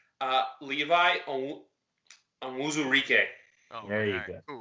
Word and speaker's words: Levi Onwuzurike: I have the correct pronunciation. Levi Onwuzurike.